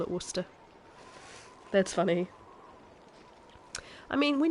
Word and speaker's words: Worcester: their way back oh you pronounce it worship it's Worcester I know it is Worcester does he say it Worcester as well my husband is Scottish and he would say Worcester you don't need the Shire part or